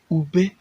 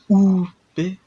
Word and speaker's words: ube: We have ube, not o, ube.